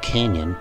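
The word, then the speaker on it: cañón: Interestingly, the word cannon in Spanish is spelled C-A-N-O-N and pronounced like the English canyon. Here's the definition from Google Translate, which is more like a list of synonyms. El canyon, cannon, canyon, barrel, gun, tube, gorge.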